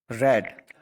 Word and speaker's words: read: चरित्र पढ़ा, तो वी रेड, रीड का मतलब क्या होता है, पढ़ना। इसकी जो सेकंड फॉर्म होती है रेड, रेड, दिखने में तीनों सेम लगते हैं बट इसका प्रोनाउंसिएशन रेड, रेड बोलते हैं।